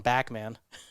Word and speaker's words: Bachman: He had another singer with him, and it was Bachman. Yeah. But he called him Backman. That's So right. I guess in Canadian they pronounce it a little Backman differently. Turner Overdrive.